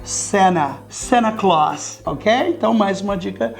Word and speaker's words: Santa: Mas é claro, como eu já falei em vídeos anteriores, americanos não pronunciam o T. E por que que ele não pronuncia o T? Porque antes tem um N.